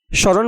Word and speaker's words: স্মরণ: মফলা উচ্চারণের প্রথম নিয়মেই বলা হচ্ছে শব্দের প্রথমে মফলার উচ্চারণ হবে না, যুক্ত বর্ণটি আংশিক নাসিক হয়। স্মরণ বানানের শুরুতে দন্তস্বয়ের সাথে মফলা থাকায় মফলার উচ্চারণ হবে না।